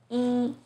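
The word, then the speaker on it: 一: tone in boo hao e as in number one is pronounced as e but in young it becomes the second tone in ET it's the fourth tone seems very confusing right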